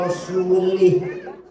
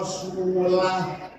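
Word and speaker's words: وَرَسُولُهُ: Wa anna Allaha bari'um minal musyrikin wa rasulih. Allah tidak melindungi orang musyrik dan tidak melindungi Rasulnya, Rasulullah. Salah. Yang benar bacanya wa anna Allaha bari'um minal musyrikin wa rasulah.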